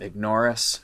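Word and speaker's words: Ignaurus: i mentioned that album ignoris am i saying it right yeah all right it's a play on the words ignore us you know i like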